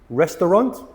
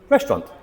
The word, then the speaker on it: restaurant: And these are words that are often pronounced incorrectly, but there's a vowel in the middle that is not pronounced.